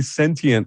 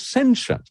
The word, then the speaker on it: sentient: up in Britain, that you say sentient the American way, which is 3 syllables with a hard T in it. The British way, if you listen to Patrick Stewart, and the way it was originally conceived as a word is 2 syllables, like quotient doesn't have a hard T in it, nor does sentient.